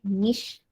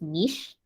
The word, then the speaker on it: niche: N-I-C-H-E, niche. The UK English pronunciation is niche.